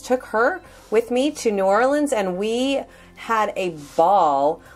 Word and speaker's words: New Orleans: you gotta say it right darlings it's a New Orleans Louisiana and we took myself and my daughter